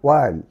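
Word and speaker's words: while: ডবলিউ এইচ আই এলই ওয়াইল। ওয়াইল তোমরা কিন্তু এটিকে হোয়াইল পড়ে থাকো। তোমরা এখানে জেনে রাখবে ডবলিউ এইচ এর পরে যদি ও না থাকে তাহলে এইচ এর উচ্চারণ এখানে সাইলেন্ট থাকবে।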